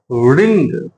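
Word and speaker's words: wring: की इंग्लिश क्या होगी रिंग तो यहां पे डब्लू साइलेंट है तो इसलिए इसको हम पढ़ेंगे रिंग स्पेलिंग रहेगी डब्लू आर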